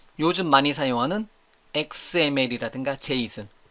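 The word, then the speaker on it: JSON: 그런데 지금은 제 있음 jason 제이슨 j 손 으로 발음하는 제이슨 데이터를 거의 거의 넘버원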